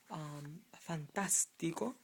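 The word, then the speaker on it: fantástico: Fantastico. Fantastico. It's not fantastico, it's fantastico. So to avoid you saying fantastico, you need an accent on the A because it's not the penultimate syllable.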